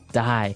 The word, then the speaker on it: dye: you're dyeing it okay die so it's pronounced exactly the same way as you know to die to not live anymore that but it spelled